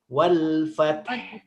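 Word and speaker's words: الفتح: Ini ta ini kan dia termasuk huruf syiddah, huruf yang tertahan dari segi suaranya. Berarti wal fat ini kita ambil yang bagian awalnya.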